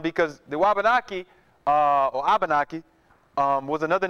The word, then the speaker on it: Abanaki: native people called themselves abanaki or abanaki okay and excuse me SP a it's spelled various ways but one way you can spell it is AB A N A Ki abanaki or wabanaki and the same area